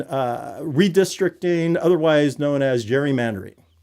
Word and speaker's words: gerrymandering: It is not gerrymandering. It is gerrymandering.